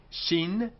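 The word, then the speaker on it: שׁין: with a dot on the right hand side shin shi and the dot on the left hand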